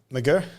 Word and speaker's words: McGirr: pronounce your last name Mercure everyone outside the UK says it the way I say it yeah in the UK the country closest to Ireland yeah you get every other pronunciation but we haven't met